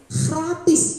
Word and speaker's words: gratis: Jadi di Belanda itu ada satu kata yang sama dengan bahasa Indonesia tapi pronunciasinya berbeda. Gratis. Gratis bilangnya kalau di sana. Jadi saya teringat sekali kakak kelas saya itu mempronunciasikan G dengan gitu.